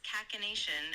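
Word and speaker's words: cachinnation: You pronounce it as kacination. Uh with the emphasis on the second syllable.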